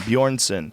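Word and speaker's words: Björnsson: bson Bor BJ o r NSS o n bjornson 6'9 it weighs 43 lb Jesus Co Christ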